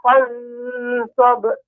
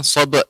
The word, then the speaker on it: فانصب: Nah, bukan sob Ibu. Sob. Fansab. sab, tidak sab. Adapun pengucapan sab, maka ada huruf hamzah di pada akhirnya. Sab, akan tapi sab. Diulangi Ibu. فإذا فرغت فانصب Tafansab. Sad, huruf sinnya juga, huruf sad lebih juga ditampakkan.